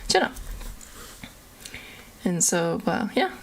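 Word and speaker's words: tjena: spelled close it's uh t j in a e a or e n a there you go jenna and so well yeah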